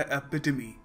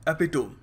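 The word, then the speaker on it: epitome: किसी चीज़ की पर्सोनिफिकेशन, मगर बहुत बार लोग इसको प्रोनाउंस करते हैं एपिटोम। एपिटोम क्यों? क्योंकि ROME रोम होता है, तो यहाँ पे TOME है, तो ये भी टोम ही हो गया ना। बट no, English is a funny language, that's why यहाँ पर हम एपिटोम नहीं कहेंगे, we will pronounce it एपिटमी।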